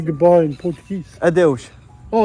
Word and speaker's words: Adeus: Adeus. Oh, adios.